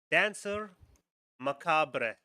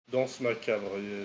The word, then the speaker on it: danse macabre: The second one, Dancer Macabre. Oh, Danse macabre. Yeah, Dance it's Macabre. supposed to be pronounced.